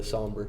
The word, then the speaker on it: Sombre: It's a somber with, and that's how it's pronounced, by the way, somber. Or sombre. It's somber with Sombre with the Imperial hombres.